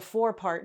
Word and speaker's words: forepart: last week what a four-part dart was. Um and so here what it is, it's spelled f o r e part. Fourpart.